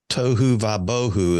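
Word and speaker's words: tohu va-vohu: A little tohu vabohu is how they say it.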